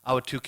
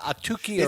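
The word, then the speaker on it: Ahwatukee: that that number one they can never pronounce it. They say you know that you know Atuki or it's part of Phoenix but we like Awatuki and and and it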